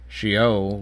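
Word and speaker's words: שאול: Now, I mean, you you your translation probably says death in the grave, but the grave there is shol, which is spelled exactly the same as sha or Saul.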